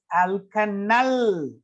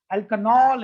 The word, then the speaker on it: alkanal: will be named as alkanal. Alkanol, it's not alkanol, it's alkanal. We have to pronounce it null.